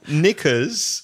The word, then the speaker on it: knickers: moving on moving on knickers silent K be careful dispelling KN IC k ers in the u.s.